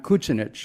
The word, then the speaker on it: Kucinich: My grandfather, John Kucinich, because that's how they pronounce the name in Croatia, came from an area called Eastern Slavonia.